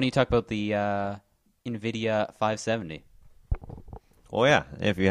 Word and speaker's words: Nvidia: wait wait hold on Nidia yeah that is definitely not how that is pronounced oh Nvidia Nvidia Nvidia man I